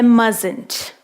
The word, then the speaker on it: mustn't: A pronúncia dessa palavra é mustn't.